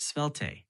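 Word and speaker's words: Svelte: t sure the word you're asking about is pronounced spel spel okay could you tell me about it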